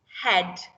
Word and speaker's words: head: It does rhyme with red, because even though it looks different from these other words, it's got the there, it's a tricky word and it's still making the sound ed.